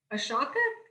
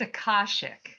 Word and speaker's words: Akashic: say this word correctly ashaka how do you say that word it's akashic akashic see i knew i wasn't right akashic thank you readings